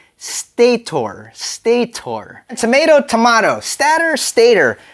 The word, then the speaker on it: stator: pronounce stat right because stat is supposed to be pronounced stator stator tomato tomato stat Stater all right fun fact Stater is actually short for two words stationary rotor and because of that